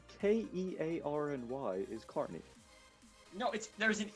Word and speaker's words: Kearney: that Nate doesn't know how to pronounce Carney, because he never will know how to pronounce Carmen. It's always Kearney for him. No, it's Kearny is Carney.